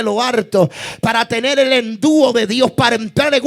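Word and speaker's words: ἐνδύω: investidos, sino revestíos, que quiere decir, o se pronuncia en griego, endúo.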